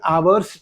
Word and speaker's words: hour's: In an hour's time. In an hour's time, not in a hour's time. Why should we use an? Because this is a silent H word.